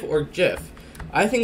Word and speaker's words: gif: yo no se do you think gif is pronounced gif or Jif I think it's a gift because this already